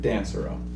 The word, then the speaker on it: Dansereau: A lot of people don't know how to pronounce it. Dansereau.